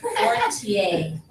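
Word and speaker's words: Poitier: You pronounce it Portier. P-O-I Portier. T-I-E-R.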